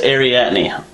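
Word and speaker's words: Arrietty: no i bet you it's not it's not pronounced like that so anyways we're going to see the secret world of ariatni it's ariatney trust me i know that's what it is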